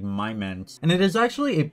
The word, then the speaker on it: Mimmense: a my monster so it's actually probably pronounced like my men and it is actually